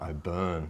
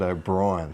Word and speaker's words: O'Byrne: And I must point out too, apologies to Connor O'Byrne, the 5'8", for Maitland. Colin O'Brien during the broadcast after earlier this year asked 3 Maitland Pickers officials how you pronounce his surname, and they all said O'Brien, so I've been thrown